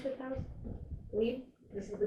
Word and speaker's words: Glebe: How do you pronounce this house? Glebe? This is the Glebe, yeah.